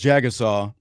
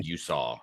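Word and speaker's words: Jagusah: Like one, they were down Charles Jagasaw, Jagasaw, got to remember how to say his name correctly. Jagusaw, they were down him all year until they got into the playoffs.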